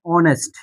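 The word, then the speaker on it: honest: এখন দেখেন এখানে আমরা লিখলাম অনেস্ট অনেস্ট ম্যান।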